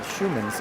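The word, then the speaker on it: Shmunis: Schumans with it. Moves it up through the middle. Still with it. And has some room now. Spelled S-H-M-U-N-I-S, but pronounced Schumans, I'm told.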